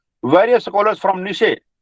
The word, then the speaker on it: Nietzsche: निशे, इसको हम निट जैसे नहीं कहेंगे, बोलने में क्या आता है ये निशे, स्पेलिंग तो काफी टेढ़ी है इसकी, NIETZSCHE, नीट, नीट जस्ते, अगर ऐसे बोलोगे आप, अगर स्पेलिंग के हिसाब से तो ऐसे बोला जाएगा, लेकिन इसकी जो रियल प्रोनाउंसिएशन है, जो हमें स्पीच साउंड से माध्यम से जानने को मिलती है बच्चों, वो ये है निशे।